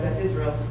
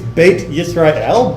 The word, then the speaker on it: Beit Yisrael: Just pronounce it like a T. Just ignore that H hanging off at the end. All right? They went Beth Israel.